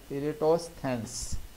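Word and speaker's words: Eratosthenes: ने बनाई थी, और इनका नाम अक्सर लोग प्रोनाउंसिएट करने में प्रॉब्लम कर जाते हैं, इरेटोस्थेंस।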